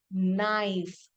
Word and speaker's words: knife: N when I say the word knife kn KN K is silent words like knit K